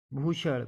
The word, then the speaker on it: Bhushan: जब बी के बाद एच आए तो BH का उच्चारण भा होता है। जैसे भूषण, BHUSHAN भूषण, भूपेंद्रा, BHUPENDRA